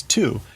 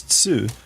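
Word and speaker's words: つ: Yeah, and su is tu, which again, like if you know Japanese, you will know to pronounce that as tsu. But if you're English, you're going to pronounce that as tu.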